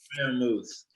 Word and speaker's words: Freiermuth: Fryer. Freiermuth. Get it right. I had time to get it right since I got him. Pat Freiermuth. Yeah, I decided to select Pat Freiermuth, tight end from Penn